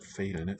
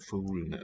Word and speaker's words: fuglene: Birds, fuglene, fuglene, tiger. And so these are both indefinite. There's no the in our prompt. It's just going to be ven. Oh, not failene, fuglene with the U.